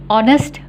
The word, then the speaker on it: honest: Honest boy. Budak lelaki yang jujur. Honest boy. So, honest ejaan dia H-O-N-E-S-T. Tapi kita tidak boleh bunyikan honest. Kita bunyikan honest. So, kita sebutkan an honest boy.